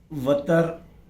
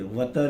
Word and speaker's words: वतर: दायरे का वतर, इसे देखिए, वतर ही जो है इसका प्रोनाउंसिएशन है। आमतौर पर वितर भी बोलते हैं हर कोई।